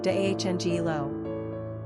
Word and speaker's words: Deangelo: Number of syllables, 4. Ranking popularity, 892. Pronunciation, Deangelo.